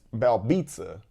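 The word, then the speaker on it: Belbiță: Even though it's spelled Belbita, those accent marks and stuff like that, it's Belbita.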